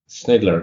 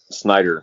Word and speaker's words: Snyder: a great guest, Snydler. Did I say it correctly? Or? Oh, it's actually Snyder. So no, there's Snyder. no L.